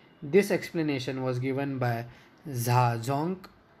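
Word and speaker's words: Zajonc: explanation was given by za junk the name is pronounced to rhyme with science the arousal is because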